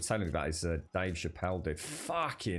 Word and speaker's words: Chappelle: i think it is yeah i'm sure it's pronounced chappelle i tell you what i've never really seen